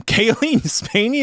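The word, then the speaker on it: Cailee Spaeny: Kaylee Spany is her name. I'm looking at the pronunciation guide and that is exactly what it is.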